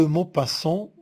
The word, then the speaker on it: Maupassant: Guy de Maupassant, mot passant, mot, la syllabe, elle est ouverte, alors le O est fermé.